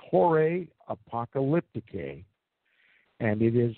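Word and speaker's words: Horae Apocalypticae: down and research that work for yourselves it's pronounced horray apocalyptic a and it is spelled hor AE a pee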